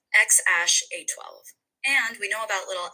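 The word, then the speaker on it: X Æ A-12: his name really made headlines, and it is pronounced XAsh A12.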